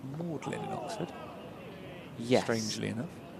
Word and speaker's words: Magdalen: I think it's pronounced Mlin in Oxford.